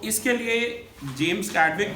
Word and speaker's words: Chadwick: अब तीसरा इनका स्टूडेंट, थॉमसन का स्टूडेंट गोल्डस्टीन का स्टूडेंट कैडविक, इसे कैडविक प्रोनाउंस करेंगे, स्पेलिंग है CHADWICK, राइट।